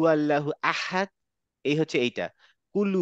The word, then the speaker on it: أحد: আমরা বলি না কুল হু আল্লাহু আহাদ, এই হচ্ছে এইটা, কুল হু আল্লাহু আহাদ।